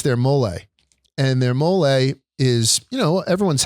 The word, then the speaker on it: mole: So people come to me and they say, what is mole? What is mole? People ask me. I'm like, no, it's mole.